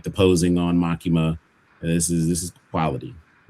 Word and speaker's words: Makima: I love the way that the light is um above is it Makina? Is that how you say her name? Makina? Makima. Yeah, Makima.